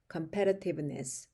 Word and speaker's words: competitiveness: 요거 발음상 그 니라고 발음하는데 니스가 아니라 competi competitiveness 오케이이 요렇게 발음하시면 그 외국 사람들이랑 굉장히 유사한 발음이 된다는